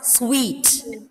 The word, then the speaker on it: suite: Normally, you might read it as suit. It is not suit. It is like pronounced as sweet, right?